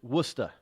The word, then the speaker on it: Worcester: how they pron pronounce warchest or warer they pronounce it wora and Le Leo Miner they pronounce lemonster they